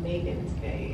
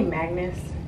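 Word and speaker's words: Magens Bay: Let's pronounce it Megan's Bay. Megan's? It's Megan's Bay, yeah. Oh, did I say Magnus?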